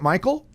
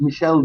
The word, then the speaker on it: Michel: got your name r Is It Michael uh yes if it's pronounced Michelle Michelle okay fantastic Michelle thank you